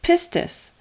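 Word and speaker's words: πίστις: Now, the Greek word used throughout the New Testament for faith is pistis. Pistis. And excuse my pronunciation, it's all Greek to me.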